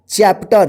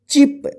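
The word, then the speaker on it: chip: पी टी ई our chapter देखिए सीच का च उच्चारण होगा ठीक है सी एच ए आर T chart ठीक सी एच ई ए पी इसको क्या पढ़ेंगे चिप इसको किप मत पढ़िए चिप सी एच ए टी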